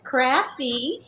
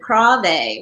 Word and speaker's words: Krafve: I have Cathy Krafve with me today. Did I pronounce that right, Krafve? Yeah, Crafty. And if we were from Scandinavia, we would have said Krave, which would probably be easier.